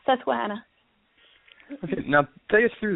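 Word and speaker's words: Susquehanna: reading this correctly, but the uh Susahana Speedway, is that pronounced correctly? Yes, Susuana.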